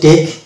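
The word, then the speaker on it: take: অনুরূপভাবে এটা হচ্ছে টেক, ই সাইলেন্ট, ই সাইলেন্ট শব্দের শেষে আছে ওই জন্য সাইলেন্ট।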